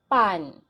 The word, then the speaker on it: pan: is bread in bisaya here is not aspirated okay not you should not pronounce the pronunciation should not be pan okay this there's no it's not like that it's just pan pan okay next what is